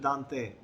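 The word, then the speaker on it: Dante: है दांते हैज़ इट, इसकी प्रोनाउंसिएशन है दांते, ये इटालियन पोइट था तो उसकी पोइट्री में भी मौजूद है।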